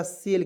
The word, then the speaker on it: sale: ठीक है, यहाँ आप देखेंगे SALE, इसका भी उच्चारण हो जाएगा सेल के रूप में।